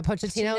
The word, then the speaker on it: Pochettino: Pochettino. Is that Yeah, Pochettino.